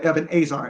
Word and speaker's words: Ebenezer: But if you also look up the word helpmeet in the Hebrew, it comes from the word Ebenezer, or Ebenezer, as it really is pronounced.